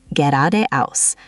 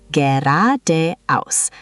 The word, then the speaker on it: geradeaus: And finally, straight ahead is geradeaus. This one looks long, but it's pronounced quite smoothly. Geradeaus. The emphasis is on the second syllable.